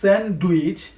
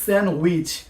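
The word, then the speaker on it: sandwich: যেমন আমরা বলে থাকি সানডুইচ। কিন্তু এটার শুদ্ধ উচ্চারণ হবে সানউইচ।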